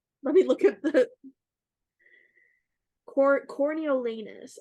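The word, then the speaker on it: Coriolanus: me look at the corneolanus I believe is how you say it c-o-r-i-o-l-a in the US like anus isn't it all right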